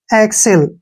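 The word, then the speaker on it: excel: इसको पढ़ते हैं हम एक्सेल य ऐसे एक्सेल ठीक है एक्सेल यहां पर जो एक्स का उच्चारण है वो क और श के रूप में हुआ है क्यों और एक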